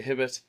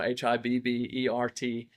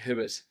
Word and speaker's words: Hibbert: As an example, my last name we discovered earlier, I would just say Hibbit. The America would I it's spelled H IB or Hi BB E R T which is Hibbert in American language. But we would say Hibbit, which is funny